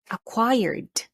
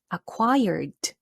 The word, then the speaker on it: acquired: word is this one acquired acquired okay make sure that you pronounce the letter d d at the end because this is past tense let's say it one more time acquired very good all right